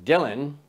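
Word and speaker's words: Django: with Jingle Bells is Dylan d j a n g o the D is silent and collectively we are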